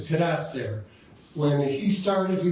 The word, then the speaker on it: Cadotte: when he started he was probably kadau but uh when the British took over Canada they changed it to kadat they just said oh it's got a t on the end must be pronounced kadat and then his children